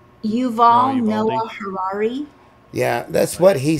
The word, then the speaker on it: Yuval Noah Harari: Yeah, that, how do you pronounce his name from the WEF? Narora? Yuval Noah Harari.